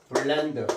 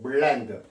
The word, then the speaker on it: blend: L 이렇게 그래서 자, 요 발음할 때는요. 정확히 적으면 이렇게 합니다. blend. 예, 우리말은 그냥 blend 하면 거의 정확한 원어민에 가까운 발음인데 blend.